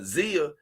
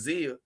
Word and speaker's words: Xia: Now, from what I saw, that girl, Zia, XIA, her name is spelled XIA, I think it's Zia, on the Simpcast that